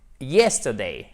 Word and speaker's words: yesterday: Yesterday. OK? Donc, événement fini dans le passé. Yesterday. On met bien l'accent tonique sur la première syllabe. The sun shone yesterday.